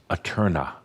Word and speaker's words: æterna: We came up with Aeterna. Aeterna. Or if you prefer, you can spell it and pronounce it Aeterna. Aeterna. Either one, Aeterna, either way.